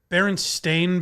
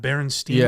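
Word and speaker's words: Berenstain: It's Baron Stain Bears, not Baronstein Bears. Right. Just you're pronouncing it differently.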